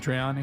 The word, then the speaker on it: Satriani: Satriani.